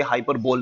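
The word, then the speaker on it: hyperbole: नाउ we will study figures of speech like हाइपरबोली, oxymoron, pun, synecdoche and metonymy. I'll repeat, children, there is something particular about the pronunciation of these terms as well.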